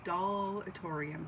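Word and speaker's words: Dahlatorium: to a video by, channel is Dollatorium, but Doll is spelled D-A-H-L, and said, you should check her out.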